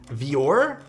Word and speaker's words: Voir: give me the uh VOR oh like Dior oh that would make